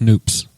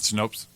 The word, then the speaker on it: Snopes: It's pronounced Snoops. Oh, not Snopes?